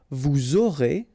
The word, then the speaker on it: vous aurez: pronounced, and then you make the liaison, vous aurez, a Z at the end here, et, aurez, liaison here, vous aurez, ils auront, final T not pronounced, elles auront.